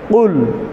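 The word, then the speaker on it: قل: এখানে কুল শব্দর অর্থ হচ্ছে বলুন, আর যদি কফকে ভুল মাখরাজ থেকে উচ্চারণ করি, কাফ বলা হয়, কুল বলা হয়, তাহলে অর্থই বিকৃত হয়ে যায়, পরিবর্তন হয়ে যায় অর্থ, ভুল হয়ে যায়।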